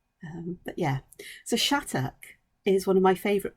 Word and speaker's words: Shattuck: it's chhat and when when I hear it pronounced by Americans it sounds like shadu and I'm going how how' you get to